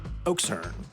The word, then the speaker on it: okšurn: But we aren't doing that, so it's unframed and informal, which means I must stress the final syllable. And now we can finally say our word, Oxern.